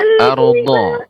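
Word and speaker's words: الأرض: Ya, ardo, do. Nanti terus berlatih Ibu ya, pengucapan do. Jadi do ini adalah kedua tepi lidah mengenai gigi geram atas.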